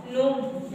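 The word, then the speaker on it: gnome: पहले शुरुआत में देखिए एन के पहले जी आया है तो आपका जी नहीं पढ़ना है बेटा जी आपको नहीं पढ़ना है क्या पढ़ना है नोम एन ओ एम ई नोम एकच साइलेंट नेक्स्ट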